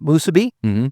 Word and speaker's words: musubi: Oh my goodness, those the sauce you put on that, you know, the fried spam musubi, did I say it right?